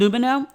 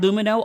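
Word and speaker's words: Lumineux: bacteria are bad is just a myth and lumino is busting it wide open i love my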